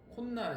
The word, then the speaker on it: 콧날: 발음했을 때 니은 소리가 발음되는 거. 콧날 했어. 그렇지? 네. 코하고 날이야. 그럼 코날 하면 되잖아. 코날. 원래는. 근데 왜지? 콧날이라고 해서 니은이 갑자기 나타난 거야. 이게 뭐가 나타났으니까 여기도 시옷으로 표기를 해 주자.